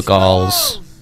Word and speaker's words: Gaul: We won't move this turn, but we will see what happens with the Gauls. Send your troops and take the rest of the settlement. Did you know that Gaul rhymes with wall, by the way?